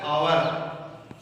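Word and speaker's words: hour: अब जब हम इसको बोलते हैं तो ये बोला जाता है आवर। आ की ध्वनि आ रही है क्योंकि एच जो है वो इसमें साइलेंट है।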